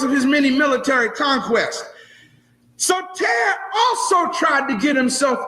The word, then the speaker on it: Soter: And Ptolemy the First, nicknamed Lagi or Lagi, assumed the throne, and his nickname was Soter. Everybody say Soter. Soter. You may want to write it down. It's spelled S-O-T-E-R.